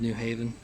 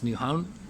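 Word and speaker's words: Nyhavn: This was Newhavn, and I pronounced it wrong. I think I said New Haven. It's Newhavn.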